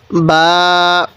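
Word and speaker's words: ب: এই হরফটির নাম হলো বা এই বা টা দুই ঠোঁট থেকে উচ্চারণ করব দুই ঠোঁট একসাথে লাগিয়ে এই বাটিকে উচ্চারণ করব বা বা তাহলে এটা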